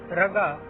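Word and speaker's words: rāga: A macron over a vowel makes it long. For instance, raga is pronounced as rag.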